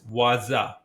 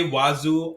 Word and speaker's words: Wazuh: outof thee boox info the proper way to pronounce is waza I might say wazu or waza because there are some confusions so let's keep everyone happy I have written a